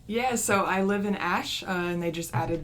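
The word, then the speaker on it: Aesch: And Ash is spelled AE S A S C H. Ash.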